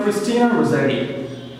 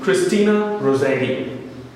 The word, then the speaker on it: Christina Rossetti: It's written by Christina Rossetti. You'll pronounce the name Christina Rossetti. Or you may say Christina Rossetti, in both ways.